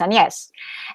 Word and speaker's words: AnYes: And now it's the name I use, and I only have my siblings, in fact, who are who know how to pronounce AnYes in French, and I write it like that.